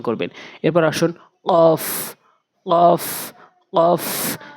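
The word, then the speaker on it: ك: না কুল বলতে হবে এরপরে কাফ কাফটা হচ্ছে জিহ্বার গোড়া হতে একটু আগে বাড়াইয়া উপরের তালুর সঙ্গে কাফ কাফটা হচ্ছে জিহ্বার গোড়া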